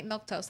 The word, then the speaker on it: Milquetoast: stream Monday Wednesday Friday milk toast that's how you say my name it's easy it's easy